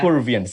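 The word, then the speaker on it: Purviance: mention again the lady's name i can't really pronounce her name yes peruvians here you go that if not perviance yeah peruvians yes wow like when when i just like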